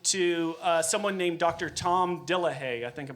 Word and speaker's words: Dillahay: Tom Dillahay. I think I'm pronouncing that right.